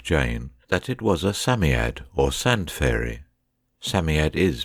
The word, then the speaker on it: Psammead: robert anthea and jane that it was a samyad or sand fairy samyad is pronounced samyad it was old old old and his birthday